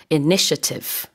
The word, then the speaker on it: initiative: 몸이 굉장히 많죠 그러니까요 그렇지만 이제 발음할 땐 initiative 이렇게 발음을 합니다 자 다시 한번 제가 읽어보겠습니다 tax